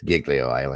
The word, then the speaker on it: Giglio: the coast of I'm G say it wrong Giglio island Italy it's Giglio yeah you're right yep I remember seeing that